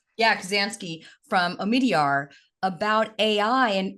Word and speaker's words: Kubzansky: You recently co-authored an op-ed with Mike, and how do you pronounce Mike's last name? Kubzansky. Yeah, Kubzansky from Omidyar about AI.